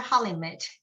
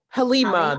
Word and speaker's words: Halima: It's a Halimit, am I? Halima, the T is silent.